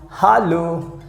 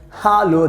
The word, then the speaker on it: hallo: useful you know that h a double l o that means in german language we pronounce hallo hallo that means you can